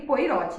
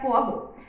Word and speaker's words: Poirot: eu tinha 12 anos eu pronunciava Hércules poirot está eu não sei poirot para muito tempo até entender que a pronúncia correta era forro então eu iria cidadãos